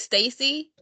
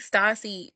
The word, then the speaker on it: Stacy: So it's Stacy. That's how you pronounce it. Mm-hmm. I Stacy. was saying Stassi the entire time I was reading.